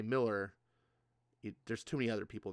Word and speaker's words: Millar: Pronounced Malar. No, it's Miller actually.